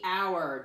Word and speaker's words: hour: word th e our remember it's a tricky word because we don't hear the H but we know it's there when we're talking about